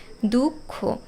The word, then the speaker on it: দুঃখ: অবশ্য আগেরটি হসন্ত দিয়ে তবে দুঃখ এখানে লক্ষ্য করো আগে কিন্তু ক এর উচ্চারণ হচ্ছে দুঃখ কাজেই যে দুঃখ শব্দটা এভাবে লিখতে হবে ক এর নিচে হসন্ত তারপর খয় ওকার শব্দে যখন ম ফলা